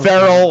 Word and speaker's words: Ferrell: By the way, we're not going to go with Goodell's pronunciation. No. Ferrell, like everybody's been saying it his entire life.